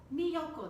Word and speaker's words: Miyoko: Miyoko, that's how you say her name.